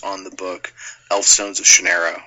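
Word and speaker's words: Shannara: the book elfstones of shanera or shanara however you're supposed to pronounce it I pronounce it shanera which is an excellent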